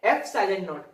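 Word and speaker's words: ε₀: Permittivity of medium और इसका pronounce करते हैं एप्सिलॉन नॉट।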